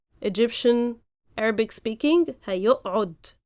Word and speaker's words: هيقعد: But when we speak, we even merge both and we say هيقعد. Because with a afterwards it's a bit hard, so we just merge them both and say هيقعد or هيقعد. We just like with a shadda, as if it's a ain with a shadda.